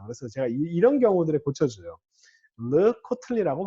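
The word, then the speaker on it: לְקָטְלִי: 전치사와 함께 쓰이는 경우가 이 경우가 르코틀리 이걸 갖다가 사람들이 많이 르카텔리 이렇게 발음하는 경우들이 꽤 많아요. 그래서 제가 이런 경우들에 고쳐줘요. 르코틀리라고 발음하셔야 됩니다.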